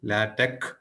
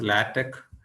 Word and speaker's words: LaTeX: tool is known as latch it should be pronounced as latch even though it is written as latex l a t ex